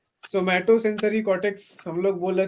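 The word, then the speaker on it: somatosensory: नहीं, तो आप लोग उसको बोलिएगा सोमैटो सेंसरी कॉर्टेक्स। ठीक है, स्पेलिंग लिख लीजिए उसका, हम लिखा देते हैं। जोमैटो जैसे लिखते हैं ना, वैसे ही सोमैटो।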